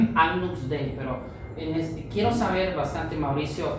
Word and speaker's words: Agnus Dei: Voy a darle chance a Mauricio porque quiero ver también la parte de Agnus Dei, y es que se pronuncia, Agnus Dei, pero quiero saber bastante, Mauricio, usted que dirige